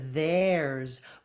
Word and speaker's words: there's: contraction for there is there's voiceth get the tongue between your teeth there's Z and get that R and that Buzzy Zed sound for the S there's it's it's construction